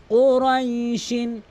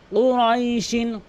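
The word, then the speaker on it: قريش: তো লি ই লাফি কুরাইশিন, কুরাইশিন কফ, অধিকাংশ লোক কুরাইশ মানে কাফ দিয়ে উচ্চারণ করে, এখানে কিন্তু কফ রয়েছে। কফটা হচ্ছে জিব্বার গোড়া উপরে তালু থেকে কুরাইশ এভাবে কিন্তু পড়তে হবে।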